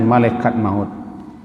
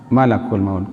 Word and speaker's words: malakul maut: di manapun maut Hai awak biasa membacanya dengan malaikat maut kalau dalam Alquran Man akun maut the Hai Abida malakul maut dengan malaikat maut kalau malakul maut Ji kalau meningkat banyak jadi yang benar malakul maut khul yatawaffakum mana cool